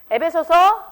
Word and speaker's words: 에베소서: 이게 다 4개 이제 옥에서 쓴 서신서인데, 특별히 여러분 여기서 에베소서하고 발음을 에베소서로 하지 말라고 자꾸 우리 서준이가 지적을 하더만, 이게 전라도 사람들이 안 되는 발음이 좀 몇 개 있거든요. 예배소서라고 해야 되나요? 어떻게? 에베소서.